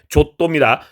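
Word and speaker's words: Giotto: 발음 조심하셔야 되는데 조또입니다.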